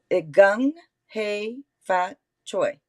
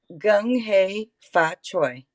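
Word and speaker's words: 恭喜發財: It's gung hei fat choi. Can you say that? No. Say it again. Gung hei fat choi.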